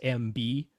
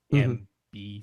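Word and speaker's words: Emby: to be Media Browser, but it's not MB like the letters MB. They spell it out like EMBEE, MB.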